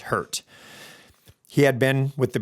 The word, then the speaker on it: HRT: Newman was a member of the FBI's hostage rescue team, or HRT, pronounced hurt.